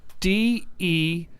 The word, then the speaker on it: DeLuise: DELUISE. He says... Oh, DeLuise. Oh, his name is Michael DeLuise. Like the Don DeLuise Studios that you're sitting in are you right saying now.